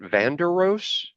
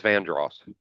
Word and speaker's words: Vandross: Hang on, is that how you pronounce it? Vanderos? That was Vandross.